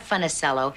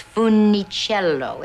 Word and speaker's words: Funicello: And he said, "First of all, young lady, you are mispronouncing it. It is not Funicello, it's Funicello. It's a beautiful Italian name." It's unique. It's like a song. Funicello. It's beautiful.